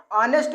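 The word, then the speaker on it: honest: वो एक वायरल है तो वावेल से पहले जब हा का प्रयोग होता है तो शब्द को पढ़ने समय हा का प्रनंसीएशन नहीं किया जाता है दोस्तों तो इसको हम क्या पढ़ेंगे ऑनेस्ट पढ़ेंगे ना की इसको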